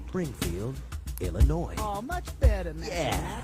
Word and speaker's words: Illinois: It ends with an S, but don't say it, boy, when mentioning Springfield, Illinois.